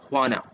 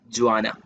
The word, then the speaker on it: Juana: another imagines here so you have to pronounce the name as juana okay not joanna juana juana is kino's wife